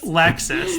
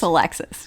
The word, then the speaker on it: Alexis: Lexus.